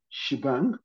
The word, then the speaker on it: shebang: the shell script you should use shibang okay shibang which is ash oh I to insert okay Ash right sh bang right Ash Ash bang right was usually called shebang okay shibang slash bin